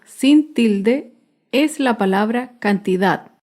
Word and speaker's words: cantidad: tilde es la palabra cantidad cantidad se acentúa en la última sílaba pero no lleva tilde